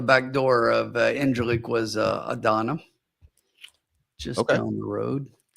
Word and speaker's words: Adana: Right out the back door of Incirlik was Adana, just down the road. Or should I say Adana?